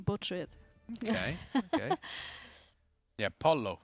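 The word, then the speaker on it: pollo: we pronounced earlier yeah Polo is Italian 100% oh there we go yeah so yeah it's Polo it's not po it's Polo exactly okay I need to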